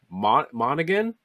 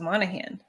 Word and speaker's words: Monaghan: the video game cameron monaghan is that how you pronounce that last name i always thought it was monahan monahan yeah i don't